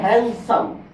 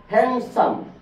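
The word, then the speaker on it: handsome: এর উচ্চারণ হবে না এখানে ডি আছে এন এর পরে এন এর পরে এখানে উচ্চারণ হবে হ্যান্ডসাম হ্যান্ডসাম ডি এর উচ্চারণ হবে না তাহলে বি গেল সি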